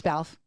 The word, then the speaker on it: Balfe: It's Balfe. Close enough. Balfe. Rhymes with Ralph.